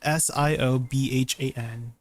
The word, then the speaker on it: Siobhan: It's spelled C. It's spelled S I O B H A N. Siobhan.